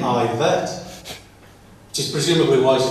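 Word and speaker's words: Yvette: Evet Cooper. She pronounces her name Ivet, which is presumably why she didn't take her husband's surname.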